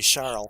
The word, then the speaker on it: Charles: It would be Charles, because the S would be silent, the way the French say it.